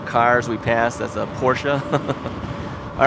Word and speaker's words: Porsche: It's called Porsche. But no, I've always called it Porsche. It's like Volvo.